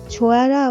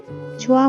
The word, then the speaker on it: ছোঁয়া: ছোঁয়া মুখ ফুলিয়ে বলল, আমার নাম ঠিক করে উচ্চারণ কর। আমার নাম ছুঁয়া না, ছোঁয়া, সুন্দর নাম।